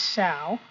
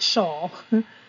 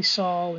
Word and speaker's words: shall: already in there and it is shall it's not shawl shawl is a solid spelled like this and it's something you throw around your body uh it might be Saul in certain regions with certain dialects but it really is shall so people say aisle and